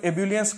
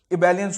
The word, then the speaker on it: ebullience: एक और बहुत ही अच्छा वर्ड है, मैं लिख दूंगा यहां पे, एबेलियंट, ठीक है, और इबेलियंस, ठीक है, इसको एब्यूलियंस करके मत बोलो, इबेलियंस होता है इसका, ठीक है, EBULLIENCE।